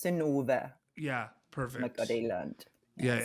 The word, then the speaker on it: Synnøve: So it's Synnøve Macody Lund. Yeah, amazing. With an O, I guess. Not this strange Norse. The strange, it's like but it's pronounced right? So like, it's an O. So it's Synnøve.